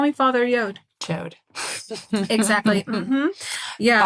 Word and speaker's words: Yod: yo call me Father yod chode exactly yeah father yo y o d yod like how God is DoD but he wants you to pronounce it yode yeah so um and